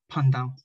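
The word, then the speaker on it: paj ntaub: form within hmong culture bandao pronounced panda bandao is a traditional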